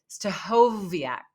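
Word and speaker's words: Stachowiak: even before I was on it Dave uh stovak yeah that's how you say it Dave stovak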